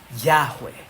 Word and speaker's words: Yahweh: Porque son 4 letras en el idioma original que acostumbramos pronunciar hoy día como Yahweh.